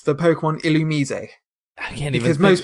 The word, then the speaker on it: Illumise: It's the Pokemon Illumise. I can't even. Because most people would pronounce it Illumise. Yeah. Or Illumise, or Illumise. But it's Illumise.